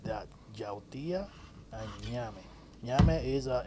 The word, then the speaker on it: ñame: Ñame is a Name, and it's that simple. It's almost like name, but it's pronounced ñame.